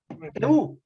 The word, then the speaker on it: eau: En francés se dice EU, ¿no? Se escribe EAU y se Sí, pronuncia Ricardo, te he visto su.